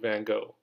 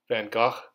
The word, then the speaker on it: Van Gogh: i'm sure everybody knew van gogh van gaach van gogh there's a lot of different ways to pronounce his name he's one of the